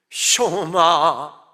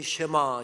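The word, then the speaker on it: שְׁמַע: 했겠죠 이렇게 설교가 시작됩니다 쇼마 이시엘 이스라엘아 들어라 우리가 흔히 쉐마 쉐마 합니다만은 정확한 히브리어 발음은 쇼마 이고요 들으라고 하는 뜻입니다 조금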